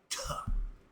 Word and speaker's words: Ptah: Ta. We call it pata. But ta, the P is silent.